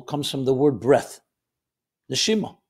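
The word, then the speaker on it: נשימה: Neshima. It's connected. Neshama, soul. Neshima, same letters but pronounced differently, is breath.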